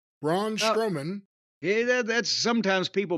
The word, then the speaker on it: Braun Strowman: Fatu and his opponent by the way was brown strongman Braun strowman hey that that's sometimes people mispronounce it that way and yes he's been